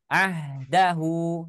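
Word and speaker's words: عهده: Tidak dibaca ahdahu, tidak juga dibaca ahdahu. Tidak, tapi hanya disukunkan. Ya, hanya disukunkan. Jadi bacanya ahdah seperti itu.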